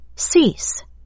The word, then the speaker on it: cease: Cease。 Cease。 Cease，它指的是终止或停止。那这个字 ea 发长音，我们念 e。Cease。